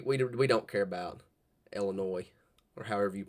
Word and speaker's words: Illinois: I know the uh S is silent. I don't know. I don't know how to pron pronounce Illinois.